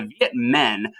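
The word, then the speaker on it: Việt Minh: fighting the french so the viet men which is not talking about men over women but it's spelled m-i-n-h the men that was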